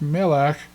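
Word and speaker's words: מלך: It's pronounced melech, and you can see the segols there. So me, lech, melech, and it's not pronounced. It's just to show you that it appears at the end of a word, and it's included there. This is a silent Shewa. It is not pronounced. We just pronounce the kaf. Melech. We do not pronounce the Shewa.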